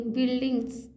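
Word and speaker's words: buildings: बल डिंग बिल्डिंग्स बिल्डिंग्स देखिए बिल्डिंग्स में यू जो है य यू जो है नहीं पढ़ा जाता है इसीलिए बिल्डिंग्स पढ़ते हैं लेकिन लोग को तो समझ में आए बिल्डिंग क्यों नहीं पढ़े बिल्ल्डिंग भाई यू को नहीं पढ़ना है बिल्डिंग्स बिल्डिंग्स हां ब्राइड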